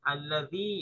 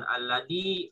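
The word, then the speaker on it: الذي: Jadi jangan disamakan allazi ya allazi, bukan alladi, bukan allazi, bukan alaji gitu ya.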